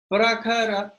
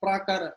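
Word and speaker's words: प्रखर: Prakhara, I'm not pra, it's not prakara, it's prakhara.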